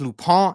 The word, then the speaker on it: Lupin: doing netflix's loophole it looks like lupine but it is french it is pronounced lupa it is ascending the